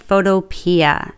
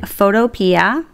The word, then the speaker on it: Photopea: to use photopia and I know some people pronounce it photo but I like photopia and that is a free website that you